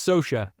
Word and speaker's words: Socia: last name properly Ed yeah it's Soha Soha all right just like the catcher for the Mets um I